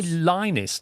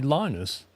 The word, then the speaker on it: Linus: You don't say Lionus, do you? You say Linus.